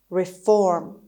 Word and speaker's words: reform: of today's lesson is reform reform reform the stress is on the second syllable it's on f reform after the prison